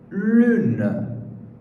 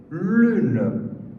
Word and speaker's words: lune: A letra U é a letra mais chata na pronúncia. Mas, vamos ver como é que eles pronunciam. U. Vamos repetir juntos. U. U. Tudo bem.